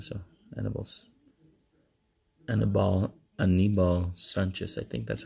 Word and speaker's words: Anibal Sanchez: Anibal Sanchez. I think that's how you pronounce his name. Anibal. Because Annabelle, of course, that's a girl's name.